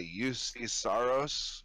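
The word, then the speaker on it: Juuse Saros: pronunciation of this, but I would pronounce that UC Saros from Nashville, a 26-year-old goalie. He's played he's played 60 games and he's won 35 of them as well. So good on him. You said it right.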